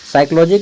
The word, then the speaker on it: psychology: साइकोलॉजी का spelling P से शुरू होता है। ठीक है? पी एस वाई P silent रहता है यहां पे पी एस वाई